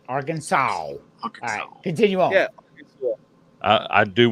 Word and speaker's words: Arkansas: seasonings in there but it's not AR Kansas it's Arkansas all right it's Arkansas